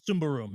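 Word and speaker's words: Symbaroum: Sumbarum, yes. You would never know how to pronounce that game unless you're Swedish reading that.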